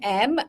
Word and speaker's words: Emb: Yes, I'm M, and I always say to people, if you want to remember my name, always think about who James Bond's boss is. M, pronounced as the letter M.